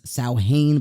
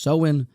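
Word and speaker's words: Samhain: of the seen Nation I thought it was saane but apparently it's pronounced seen where they would have this sort of Festival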